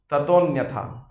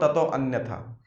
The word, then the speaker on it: ततोऽन्यथा: ततोऽन्यथा, इट्स नॉट ततो अन्यथा, just a matter of pronunciation. ततोऽन्यथा किं, ऑल्दो लगेगा ऐसा अन्यथा बोल रहे हैं, बट it should not be spelled out like that.